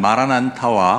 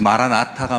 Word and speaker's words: 마라나타: 그런데 꼭 기억하실 것이 하나 있는데요, 이 마라나타는 발음을 잘 하셔야 합니다. 저도 그렇고 자칫하면 마라난타와 혼동하기 쉬운데, 마라난타가 누군지 기억하시나요? 마라난타는 백제 불교를 처음으로 소개한 인도의 승려입니다. 그래서 마라나타가 맞고요, 마라난타는 틀립니다.